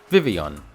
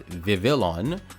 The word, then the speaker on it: Vivillon: we have a short and very simple one vivon now I know myself and a few other people I know growing up used to pronounce it as Vivillon because that's literally what it looks like and